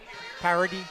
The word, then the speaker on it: Paredes: I think it's Garrett Paredes. Parody. Yep. Parody. Parody.